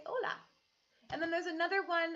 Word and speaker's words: hola: faith says hola so we don't say jolla you say hola and then there's another